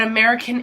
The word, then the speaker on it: American: So not American Indian, but American Indians. So always remember that S for this test. Now, this is how we pronounce it. American Indians. So, and this A sounds like a U.